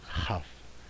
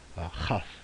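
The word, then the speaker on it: כף: at the right, is the chaf. It's kind of like the chet we just learned, chaf. So it's going to have that ch pronunciation to it, kind of that guttural off the back of your throat sort of sound.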